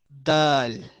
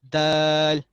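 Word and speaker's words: دال: Okay, the दाल इज अ नितकिया letter again like अ ता, pronounced from the tip of the tongue and the inner edge of the upper teeth।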